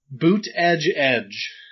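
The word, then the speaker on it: Buttigieg: I wanted POTUS booty gig. I dig it. I also want to learn how to pronounce his name. Boot edge edge.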